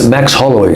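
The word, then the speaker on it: Max Holloway: brasileiro, mas você tava no coach do, como pronuncia? Max, Max Hollowy.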